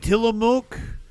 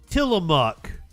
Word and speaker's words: Tillamook: of cut back, and Tillamook. Is that better? Did I say it right? Ozempic. It's spelled like mook, isn't it?